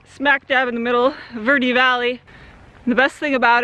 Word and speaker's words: Verde: to pronounce things is Verde like rhymes with dirty not Verde like you might say in a Spanish you have a great